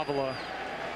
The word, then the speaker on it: Avila: Al Avila, and that's how Alex Avila's dad pronounces his last name.